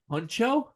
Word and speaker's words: Hunxho: Huncho? Yeah, he pronounces it like that.